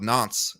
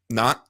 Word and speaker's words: Nantes: And they're all recorded in his home diocese of Nantes, if I'm saying that correctly. And they push for it in Nantes. Just don't pronounce the S. Silly American. Of Nantes in 1860.